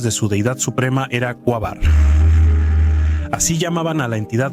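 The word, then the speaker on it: Quaoar: Muchos, al pronunciar este nombre, ponen el acento en la última sílaba, lo cual no es correcto. Además, de esta forma suena parecido al término cuásar, aunque el objeto transneptuniano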